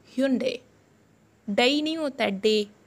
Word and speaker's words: Hyundai: Aap isko Hyundai bolte hai na? Ye bilkul galat hai. Isko pronunciate hum karenge Hyundai. It's Hyundai.